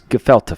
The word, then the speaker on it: Gefilte: How would you pronounce that? It's Gefilte Fish. Gefilte.